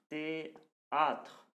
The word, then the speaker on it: théâtre: La lettre H, c'est une lettre muette qui ne se prononce pas. Voilà. Par exemple, homme, habit, qui ne fait pas le moine. Théâtre.